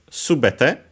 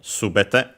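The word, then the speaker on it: すべて: Then we have subet should be accented on the first one syllable which means all is an adjective. uh when followed by the technically it's a noun uh which means everything all then uh we uh and yes it's accented on the first syllable subet then we add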